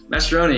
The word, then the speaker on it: Mastroeni: Okay, so we've got Dempsey and Mastroeni. Am I pronouncing it right? Mastroeni, yeah.